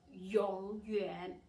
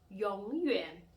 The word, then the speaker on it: 永远: So instead of saying 永远, please pronounce as 永远. Instead 友好, please pronounce as 友好.